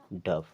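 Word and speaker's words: dove: हैं लव डी ओवी ई इसे पढ़ते हैं डव यानी कि रूल तो हमारा यही है कि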